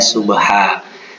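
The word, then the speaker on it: صبحا: Nah, bacaannya subha, tulisannya subhan. Falmugirati subhan, kita baca menjadi falmugirati subha.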